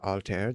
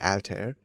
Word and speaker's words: Altair: Uh the library is named after Alter the brightest star. Oh, okay. Alter the the brightest star um in the constellation Aquila uh which follows the same pronunciation.